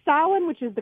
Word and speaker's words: Samhain: called the town of I'm going to say stylin which is the correct pronunciation but I can almost guarantee that they're pronouncing it Samhain oh yeah yeah because then there's the the